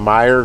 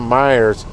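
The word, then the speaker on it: Meijer: grind for the dollar doing shops from Meyer grocery stores, but it's not spelled like m e y e r. It's like m a j i e r or whatever.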